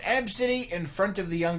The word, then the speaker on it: Abcde: name, which is pronounced Abcity. The pronunciation, it's in quotes, is capital A, lowercase b, dash city. So, Abcity. So the kid's name is ABCDE, but it's pronounced Abcity.